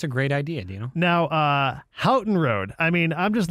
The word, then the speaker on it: Houghton: Well, but that's definitely a commonly mispronounced one, though. It is definitely Houghton.